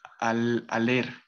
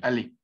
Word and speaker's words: aller: Entonces este verbo ale, pues bueno, no va a sonar la R, primero que todo. Ahí sí supriman la R y no digan al leer o, o algo parecido. Sí, solamente decir ale, ale.